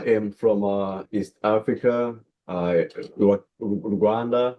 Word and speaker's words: Rwanda: Rwanda, but I usually say Wakanda because it rhymes the same as Wakanda and the vision, the mission, it's like, you know, we're pushing and turn into Wakanda.